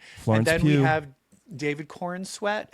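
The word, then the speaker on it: Corenswet: And then we have David Corin sweat. How do you say Corin sweat?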